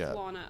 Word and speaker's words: Lana: say my name name it's pronounced Donna well why would you read that but with an l so with Lana okay doesn't matter let's